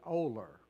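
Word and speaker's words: Olar: post office is and that town is spelled o l a r and we pronounce it oler and that is a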